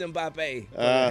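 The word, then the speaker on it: Mbappé: wrong absolutely MBA mbapp it's mbappe it's French ju guu you know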